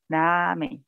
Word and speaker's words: ramen: o certo lá é ramen, né. Ah, então, né, quanto à pronúncia, né, para nós brasileiros, ela é difícil, porque quando começa com R no início, para a gente é ha.